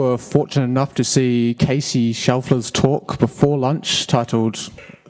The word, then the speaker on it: Kees: the Linux kernel um my name is spelled that way which is a Dutch spelling but it's just pronounced case um I respond to